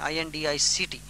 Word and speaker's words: indict: Indict means to charge, I-N-D-I-C-T. I-N-D-I-T-E means to compose in words, indict. Both are pronounced indict.